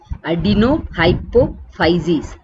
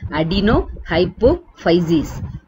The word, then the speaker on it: adenohypophysis: Anterior lobe was called adenohypophysis. Adenohypophysis. Posterior lobe, neurohypophysis. You have to divide the syllable.